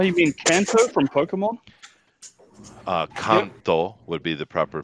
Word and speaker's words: Kanto: Kanto would be the proper pronunciation, but okay.